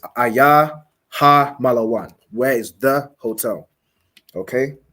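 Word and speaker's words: malawn: the shops SP hotel hotel is spelled malaan so m a l a w n ma la one m a m l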